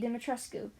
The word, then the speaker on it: Dimitrescu: Listen, after watching multiple videos on the pronunciation and hearing people who are from the area where the name originates say that that's how the name's supposed to be said, it's literally the whole Ra's al Ghul thing all over again.